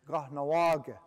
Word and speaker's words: Kahnawake: Now the real pronunciation is Kahnawake.